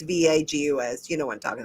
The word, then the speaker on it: vagus: I don't know how to pronounce it. It's vagus.